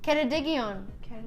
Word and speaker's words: Ceredigion: Wants to know how to say it's pronounced Cer Digion. Ceredigion.